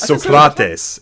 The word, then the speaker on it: Socrates: Socrates. Damn my education, I pronounced it right there. No, you didn't get it right either, man. It's Socrates. It's Socrates.